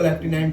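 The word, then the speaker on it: lieutenant: आपको कुछ चीज है, जैसे लेफ्टिनेंट की स्पेलिंग नहीं आएगी, वो जनरली ल्यूटिनेंट होता है इस टाइप से ना, तो बोलते उसको लेफ्टिनेंट है, कर्नल, तो ये सारी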